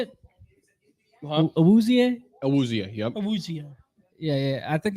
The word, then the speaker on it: Awuzie: Awuzie, yep.